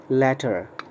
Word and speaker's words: latter: ध्यान रहे इसका प्रोनाउंसिएशन है सिंगल टी वाले का later, later, और सेकंड वाले का प्रोनाउंसिएशन है टी वाले का latter, latter, later, latter, ले ला।